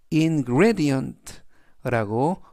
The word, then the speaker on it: ingredient: 즉 음식 속에 들어간 재료, 음식에 쓰인 재료를 영어로 ingredient 강세는 중간 부분에 있는 e에 강세가 있고요. 그래서 ingredient라고 발음하시면 좋겠습니다.